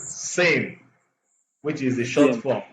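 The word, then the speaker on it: SIEM: So we developed the community developed a solution called security information and event management pronounced as SIM which is the short form S I E.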